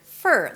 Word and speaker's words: for: And yes, it sounds just like the word fur, like a dog's fur, fur, fur. So it's an F, a schwa sound, and an R. There is no O in the middle, okay?